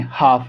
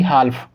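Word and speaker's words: half: जब कभी भी एफ से पहले एल को लिखा गया होगा तब एल साइलेंट होगा। जैसे कि इस कंडीशन देखिए, एफ है और एफ से पहले आपने एल लिखा हुआ देखा, एफ से पहले एल है तो यहाँ पर एल साइलेंट होगा। तो हम इसको क्या पढ़ेंगे? काफ, और इसको हम क्या पढ़ेंगे? हाफ, ना कि हाल्फ।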